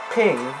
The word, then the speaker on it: PNG: The computer file format PNG is, according to its creators, supposed to be pronounced. Is it PNG, Ping, or PNUG? Is it Ping? That is the correct answer.